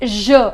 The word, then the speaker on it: je: singular subjects means I the pronunciation is Je as in pleasure measure then q q means